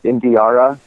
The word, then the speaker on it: Indiara: People always ask how to spell her name or pronounce it, but it's like Indiana with an R, so Indiara, and then her last